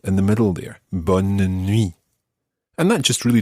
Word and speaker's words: bonne: good, and that is bonne. Bonne. And that's spelled B-O-N-N-E, as opposed to bon, which is spelled B-O-N. Listen to the difference between these two words. Bon, bonne. Bon, bonne.